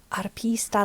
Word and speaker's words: Harpista: It kind of could go maybe I need to not pronounce the H. Harpista. Like that? Is it Is it more arpista than harpista? Arpista, like in Spanish, does it have a rolled R like in Spanish?